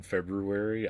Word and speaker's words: February: Um, nobody pronounces the R in fe in February. I do.